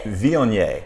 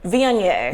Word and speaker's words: Viognier: Viognier. Viognier. Viognier. Now it's spelled Viognier. Okay, but it's Viognier.